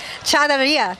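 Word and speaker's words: charrería: Charreria.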